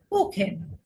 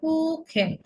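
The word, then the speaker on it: Kuchen: কুখেন, এই যে ইউর পরে সিএস আছে, এটা খ হয়ে গেছে। কুখেন, কুখেন হচ্ছে কি কেক।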